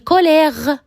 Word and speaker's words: colère: Par exemple, colère, ben remarquez marqué après et il y a la syllabre mais le e il est mué, il ne se prononce pas, on dit colère.